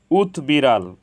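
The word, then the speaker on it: উদ্বিড়াল: বফলার উচ্চারণ অবিকৃত হয়েছে উৎবিড়াল এখানে উৎ এর সাথে বফালা যুক্ত হয়েছে এজন্য বফলার উচ্চারণ অবিকৃত হয়েছে উৎবাহু এখানে উৎ এর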